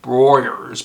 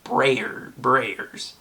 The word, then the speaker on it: Breyers: I was like, oh, it looks like it'd be a silent E, and it would be Broyers, but no, it's Breyers.